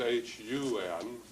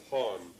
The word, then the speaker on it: hun: Because I don't think it's pronounced hon. See, the nish in the skyway is hon with a clear long O, whereas over here our way is hun or hun, hun.